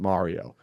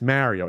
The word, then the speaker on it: Mario: italian-american jersey new york almost no one pronounces it mario it's mario and i think the